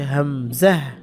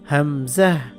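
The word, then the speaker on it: ء: এটার নাম হচ্ছে হামজাহ। হামজাহ উচ্চারণ কিন্তু ওই আলিফের যা ছিল তাই। এই যে আলিফে যেমন আ ই উ, তার নাম হচ্ছে হামজা, বাকি উচ্চারণ হামজা জবর আ, আ ই উ এরকম হবে।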